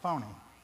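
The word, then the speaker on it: φωνή: The word voice there is taken from the Greek word, I think they pronounce it phony.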